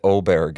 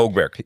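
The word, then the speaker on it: Åberg: Uh it's getting pronounced a variety of ways, but I think he said Oberg is the way to do it. Oberg. Well, it's it's the letter A with a little circle over.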